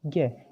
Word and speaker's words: ज्ञ: उसको अगर हम वास्तविक रूप से उच्चारण में लेते हैं तब लिखते हैं जय प्लस अन।